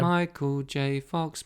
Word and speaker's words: Michael J. Fox: Yeah, the Lightyear song wouldn't work if it was just Michael Fox. It needs that extra syllable. Yeah. Michael J. Fox, Michael J.